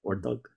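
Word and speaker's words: Ördög: of the devil, Ordog, I think it's pronounced Ordog, O-R-D-O-G, and it's got like two dots over one of the O's.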